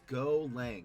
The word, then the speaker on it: Golang: It's pronounced go lang. It's short for go language.